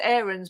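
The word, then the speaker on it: Aarons: imagine it being like a max aaron situation and you know that it's max errands but max just goes no it's fine you know it's it's errands it's fine i'm not going to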